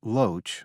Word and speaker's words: LOH: Army Rangers, a Cobra gunship, and a LOH, pronounced Loach, scout helicopter.